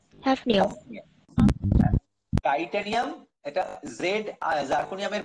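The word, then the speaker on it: zirconium: এটা হচ্ছে titanium, titanium, জার্কোনিয়াম, হ্যাফনিয়াম। Titanium এটা জেড, জার্কোনিয়ামের বানানটা দেখো, বানানটা হচ্ছে ZIR, কিন্তু এটা হচ্ছে জির্কোনিয়াম অনেকে বলে, কিন্তু জির্কোনিয়াম নয় এটা জার্কোনিয়াম বলাটাই ভালো।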